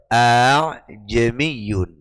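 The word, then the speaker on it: أَأَعْجَمِيٌّ: dalam mushaf Madinah dibaca ajamiyun Iya yang benar adalah Hamzah yang pertama dibaca biasa dengan segala sifat yang di bawahnya ya A yang kedua dibaca tashil cara baca ha jadi ajamiyun ajamiyun cara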